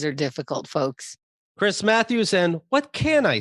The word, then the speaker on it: Chris Matthews: are ugly yes uh this is chris mathers matthews i never said his name right i think i'd do